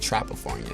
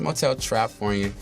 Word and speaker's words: Motel Trapfornia: Motel Trapfornia, because you said Trapafornia. So some people do that. It's Motel Trapfornia. It's all one word.